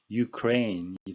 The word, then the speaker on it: Ukraine: 우리말로는 우크라이나고요. 영어식 발음은 Ukraine이 되겠습니다.